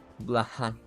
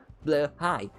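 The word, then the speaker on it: Blåhaj: Blahaj, which is also pronounced Blahaj. Blahaj in German is pronounced the same way as it is pronounced in Swedish, ironically enough, but anyway, I digress.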